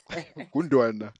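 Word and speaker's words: Gündoğan: Gundan Gundan. That's how that's how you pronounce his surname, dog.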